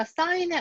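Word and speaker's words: sine: 자, 그래서 우리가 이제 요 기호는 sign이라고 읽고요.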